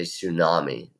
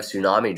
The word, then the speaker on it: tsunami: Japan this was a tsunami sounds like I should start with and s but the T is silent they have tsunami drills like we would